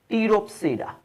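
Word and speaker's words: Pteropsida: और जो चौथी सब डिवीजन है हम इसको कहते हैं टीरोपसीडा। इसमें पी साइलेंट है जैसे सीलोपसीडा में था।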